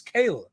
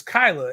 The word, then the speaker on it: Kyla: It looks like it's Kayla, but it's Kyla, and it's like, no, man.